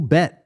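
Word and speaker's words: 백: physical 100 physical bet physical bet that's how you say it in Korean because man they say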